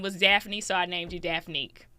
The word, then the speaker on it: Daphne: It's Daphne with two syllables, but people in the south say Daffany, so it's three syllables. I don't even correct people no more. Yeah, that's a black thing. Hey, Daffany. I get it. I get it. Uh, but it is Daphne.